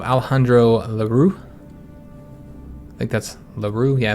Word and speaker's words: Lerroux: I think that's Lerroux. Yeah, I think that's how you pronounce it. I think the X would be silent.